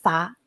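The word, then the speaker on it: 发: That means the same pronunciation in some of our language. It's called fa.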